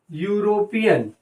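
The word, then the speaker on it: European: अब यूरोपियन में ई जो लेटर तो ई है, माने तो ये वॉवेल है, लेकिन इस ई का प्रोनाउंसिएशन भी किससे हो रहा है, मैं थोड़ा आपको हाईलाइट कर दूं, या से हो रहा है, यू ऐसे हो रहा है।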